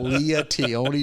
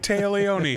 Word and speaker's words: Téa Leoni: I don't like Téa Leoni. Yeah. I got her name wrong, so how well do I like her? Yeah. I called her Leah. Leah Tione.